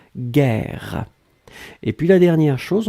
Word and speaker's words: guerre: les cris bien guerre on écrit effectivement j'ai eu un air air donc vous avez le double r donc kivu qui ouvre la prononciation du jeu et donc c'est la raison pour laquelle vous prononcez gailhaguet guerre et puis la dernière